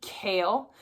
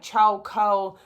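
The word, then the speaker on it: Chaol: And someone told me when they read like it on Audible that it's actually Kale, which blows my mind because that's the last way I would pronounce his name because it's how it was spelled. So, I always called him like Cha Co, whatever, but not Kale.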